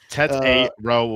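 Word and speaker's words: Tetairoa: Tet A. Row McMillan. People say Ted McMillan.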